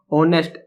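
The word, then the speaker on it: honest: Sound vowel की है, ऑनेस्ट H silent है, इसमें सबको मालूम है ये साइलेंट रहता है, और साउंड किसकी आ रही है, ओ की आ रही है।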